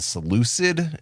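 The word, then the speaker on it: Seleucid: The Seucid Empire I think is how you pronounce it.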